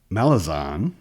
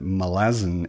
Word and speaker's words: Malazan: is conscious of is Malazan is an adjective, and it's an adjective that follows the rules of English. So if you pronounce it Malazan, then you also have to pronounce it American and Canadian and Australian.